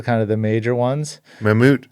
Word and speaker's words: Mammut: of the major ones mamut I'm glad I know how to pronounce it I always call it Mammoth right I got the